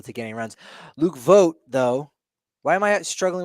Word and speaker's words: Voigt: Luke Voigt. Yeah, what did you want to say about him? Most names are pronounced exactly as they look. So yes, I'm looking at his name. It is very clearly Voigt.